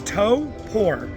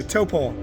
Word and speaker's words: Taupō: This is one of the biggest events they've ever had at Toppo. I've learned how to pronounce it. It's to poor. So toppole.